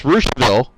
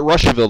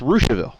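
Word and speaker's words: Russiaville: way i called it russianville the first time on radio and i had people calling me left and right and i'm like look it's spelled russia but it's pronounced rooshville and in rossville it's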